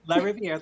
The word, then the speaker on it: LaRiviere: Did I pronounce it right? Yep, LaRiviere, that's just perfect.